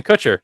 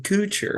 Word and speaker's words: Kutcher: you said punked by Ashton coocher actually no no no no you want to look up how I say his name I'm pretty sure it's Kutcher no no no no